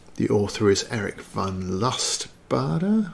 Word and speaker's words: Lustbader: author is eric von lust bada i'm going with bada because douglas barter is spelt similar who has more than